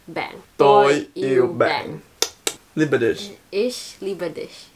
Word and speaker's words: Ich liebe dich: Ish Liberdish.